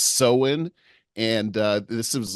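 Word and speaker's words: Samhain: uh Celtic Festival that uh is called It's pronounced seen and uh this is like from 2,000 years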